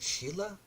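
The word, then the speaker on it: Silla: Now, if you're wondering what time period this is, the I think it's actually I said Sila here, but I think they pronounce it Sheila.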